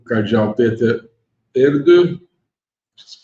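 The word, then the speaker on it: Erdő: Aqui, o Cardeal Peter Erdo, se pronuncia mais ou menos assim, que é húngaro.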